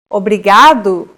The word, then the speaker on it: obrigado: here in lesson two don't pronounce it like an English R don't roll your tongue listen to how Anna